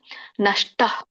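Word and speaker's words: ನಷ್ಟಃ: ಕೂಡ ಅ ಸ್ವರದಿಂದನೇ ಹೇಳಬೇಕು ಸೋ ವಿಸರ್ಗ ನಾವು ಹೇಗೆ ಉಚ್ಚಾರಣೆ ಮಾಡ್ತೇವೆ ಹ ಅಂತ ಉಚ್ಚಾರಣೆ ಮಾಡ್ತೇವೆ ಹಾಗಾಗಿ ಹ ಬರುತ್ತೆ ಹ ಅ ಸ್ವರ ಕೂಡಿದೆ ನಷ್ಟಹ ಬಟ್ ಇಲ್ಲಿ ಮಧ್ಯದಲ್ಲಿ ಅನುಷ್ಟು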